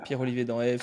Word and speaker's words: Pierre-Olivier Danhaive: Pierre-Olivier dans Eve sur LinkedIn. Je le prononce bien?